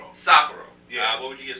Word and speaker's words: Sapporo: What's the correct pronunciation? Sapporo.